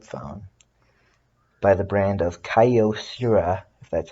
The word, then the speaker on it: Kyocera: decade old flip phone by the brand of Kyocera that's how you pronounce it this was my mother's flip phone